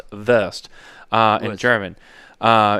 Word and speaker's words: Wurst: There's there's a lot of I mean worse is just it's really pronounced vest. Uh in German, uh everyone sees the W, but in German it's pronounced vest.